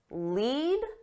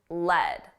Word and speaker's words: lead: Two pronunciations: lead and lead.